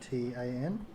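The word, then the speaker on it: Thyatian: Thiatan. Oh, you'd like to spell it is correct for you.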